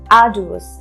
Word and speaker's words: arduous: You have to put stress on R and a bit of J sound would come there.